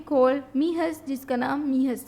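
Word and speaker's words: Mijas: दराज गाँव में, कॉल्ड मीहस, जिसका नाम मीहस था. अगर हम इंग्लिश में प्रोनाउंस करें तो मिजाज या मिजस आप इसे प्रोनाउंस करेंगे, बट in Spanish J pronounce as एच, तो ये मीहस.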